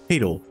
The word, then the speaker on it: Hadel: Now, you may be saying, Hadel, yes, that's how you pronounce my name, why don't you use the magnetic umbrella since it protects against projectiles?